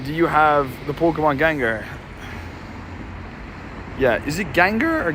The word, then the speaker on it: Gengar: you have the Pokemon Gengar yeah is it Gengar or Gengar I think it's Gengar dude it's Gan yeah it is too it's Gengar not gangar yeah I've got a